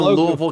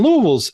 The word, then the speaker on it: Louisville: Um, and so, so when you when you I know you're in Louisville, Kentucky and I lived in Louisville. Louisville, Kentucky. I say Louisville, not Louisville, because I live there.